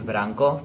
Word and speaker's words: Branko: Hi, my name is Branko. People call me here, they call me Branko because of the pronunciation of the R.